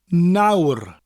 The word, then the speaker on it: nawr: Another good word is nawr, which means now. It's basically the English word now with a rolling R at the end of it.